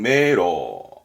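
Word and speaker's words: 明朗: 발음은 메로. 명랑은 메로.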